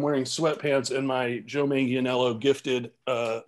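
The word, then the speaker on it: Manganiello: speaking speaking of uh joe how do you pronounce his last name manganello manganello you play you play d with him i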